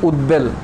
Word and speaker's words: উদ্বেল: বহাল থাকে কোন ক্ষেত্রে যেমন যদি থাকে উদ্বেল ঠিক আছে উদবেল এখানে যে বটা আছে এই বর উচ্চারণটা বহাল আছে উদবেল এই উদ আর বেল এই বর উচ্চারণটা আসছে ঠিক আছে যেমন উদ্বোধন